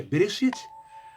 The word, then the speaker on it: Bereshit: Gênesis é origem, mas o nome que se pronuncia é Bereshit.